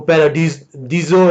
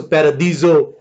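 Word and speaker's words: παράδεισος: یونانی زبان میں اس کا جو تلفظ ہے وہ پیرادیزو ہے. ڈ کی ساؤنڈ نہیں ہوتی یونانی میں، د کی، سو پیرادیزو.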